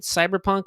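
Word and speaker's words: CBR+PNK: um it I mean I guess you would pronounce it cyberpunk but it's spelled CBR plus sign pnk um cyber Punk um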